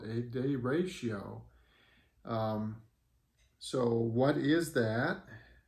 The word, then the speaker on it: derecho: that come from well it comes from spanish and it's the ratio